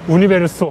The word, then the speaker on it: Universo: 우니베로소. 네, 우니베로소. 네. 아, 뭐 유니버셜. 유니버셜. 그죠? 유니버셜. 너무 어려워요, 네.